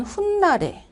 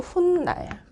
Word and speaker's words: 훗날: 그다음에 우리는 뭔 훗날에 이것도 훗날 그래서 이렇게 맞춤법 문제가 나오면은 그대로 발음 나는 대로 쓰고 그다음에 그거를 규정이랑 맞춰 보면은 됩니다.